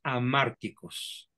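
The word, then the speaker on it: hamárticos: Bueno, pues aquí tenemos una que es muy frecuente, desgraciadamente, en nuestra cultura y que se llama mandatos amárticos. Se escribe con H, amárticos, y la palabra amártico es de origen griego y se traduciría como mensajes mortíferos o mensajes de muerte.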